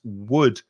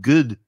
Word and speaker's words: wood: with with my experience some spanish speakers try to introduce a g sound at the beginning like it sounds like good to me sometimes instead of using the mouth and the lips to just do wha wha they're coming from the throat like argantha and they're